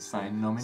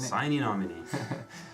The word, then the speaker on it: Sine Nomine: I think that's how he probably would have pronounced it. Sine Nomine. Sine Nomine.